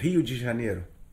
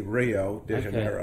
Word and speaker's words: Rio de Janeiro: Rio de Janeiro has a population we say Rio de Janeiro yeah Portuguese you know we pronounce it okay uh but with the American Americans say Rio de Janeiro right um so Rio had a population in